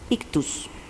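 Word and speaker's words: ΙΧΘΥΣ: Nada más que pues no se dice xoy se dice ictus yo m gracias le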